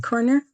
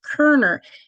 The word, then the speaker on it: Kerer: you very much um Chief corner and I keep getting your name wrong and I have my person on the other end sending me notes saying it's kerer it's a chief Pete kerer so please not a